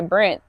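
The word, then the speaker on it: Brynth: So I did and shout out to the Brenth. So, it's spelled like B R Y N T H. Um, the Brenth. It's like the labyrinth, but just the Brenth, the ending of the word labyrinth.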